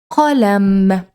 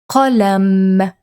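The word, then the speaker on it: قلم: Sometimes pronouncing this particular letter in a word might be easier. Let's see. So this is qalam, qalam.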